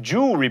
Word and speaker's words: jewelry: It's prescription, not prescription, and realtor is only 2 syllables, not 3. Same with jewelry, by the way, and athlete.